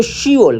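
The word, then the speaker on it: 시월: कहते हैं 10 को मगर जब इसको फिप जो है ना वो साइलेंट हो जाता है कट जाता है कोरियन जबान में इसलिए इसको शी वल कहते हैं शि वल के दसवां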